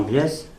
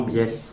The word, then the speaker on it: Biès: Donc il y a Françoise Bonnardel, il y a un personnage, c'est un philosophe actuel, Jean Biès, vous avez déjà dû entendre parler de ce personnage, donc il a écrit un bouquin, Les Alchimistes, en 2007.